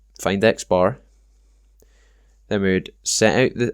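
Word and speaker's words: x̄: just represents each individual value X this is pronounced xar it has a dash on the top of it um so xar just means the mean and then n is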